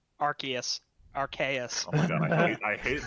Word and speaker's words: Arceus: Pokemon Legends Arceus. Arceus. Oh my god, I hate the real Arcanine.